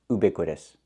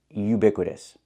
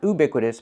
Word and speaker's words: ubiquitous: Yes, I know what it means, but it's not pronounced ubiquitous. The word is pronounced ubiquitous. Not oo, but u. We need the y sound, like yellow and yesterday. Ubiquitous. Not ubiquitous, but ubiquitous.